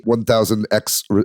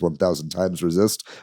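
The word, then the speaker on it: 1000xRESIST: 1,000 times resist uh I improperly uh referred to this game as 1,000x resist last week it is 1,000 times resist I actually looked up how to pronounce it this is uh I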